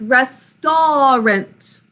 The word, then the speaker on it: restaurant: the way we say it slowly if we're pronouncing it but it's restorant can you say that with me restaurant so